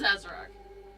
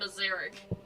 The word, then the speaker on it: Azarak: It is Azarak. I think I was calling him Azaric.